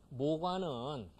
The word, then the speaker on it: 모과: 이 모과는 그 한문으로 나무 목자 오유과자죠. 목과 목과는 좀 이상하죠. 그래도 모과 이렇게 발음이 된 거예요. 목과 발음하다 보면 모과가 되겠죠.